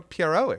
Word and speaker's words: Pierrot: Apparently, I'm the first person Dizzy Dreamer the first American that Dizzy Dreamer's ever met to pronounce the name Studio Pierrot correctly. Apparently, people don't know what a Pierrot is.